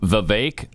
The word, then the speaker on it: Vivek: all right and uh they were told Vivek like cake okay nobody except them and I've a few times when I venture out there on that limb uh nobody pronounces it like that everybody says vivec okay and but you